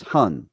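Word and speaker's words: 魂: insightful okay so one of the spirits is Hun right that's how it's said hun okay H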